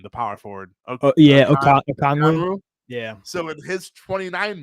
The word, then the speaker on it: Okongwu: I don't even know how to pronounce his name, the power forward. Okongwu.